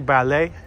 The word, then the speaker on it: ballet: Ain't it crazy how ballet is spelled ballet, but the T is silent? So it's really ballet.